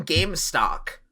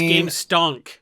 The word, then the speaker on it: Gamestonk: Wait, you keep saying Gamestock. I mean, look, I feel like I'm not crazy, right? He's saying Gamestock. Corbin is pronounced Gamestonk.